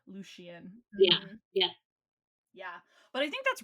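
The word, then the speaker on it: Lucien: Mm, I think I said it right, that one, but I didn't say Lucian right. I said Lucian. Oh, yeah, yeah, yeah, with the sh, Lucian.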